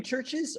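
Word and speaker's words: CHVRCHES: to pronounce the name churches or is there a difference between scientifically speaking yes no but what did you consider what did they consider the pronunciation of their band name to be churches okay oh my gosh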